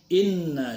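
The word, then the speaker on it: إنّ: Inna syani'aka. Inna, na-nya jangan dipanjangkan.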